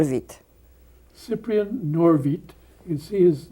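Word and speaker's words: Cyprian Norwid: name improper polish please Cyprien not of it Cyprien nor vite his name up on top there it doesn't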